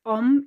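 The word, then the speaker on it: homme: start comparing words in both languages you don't pronounce the age so it's om in french and ombre in spanish well and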